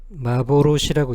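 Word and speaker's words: 幻: 요거 하나만 읽을 때는 마보로시라고 읽습니다.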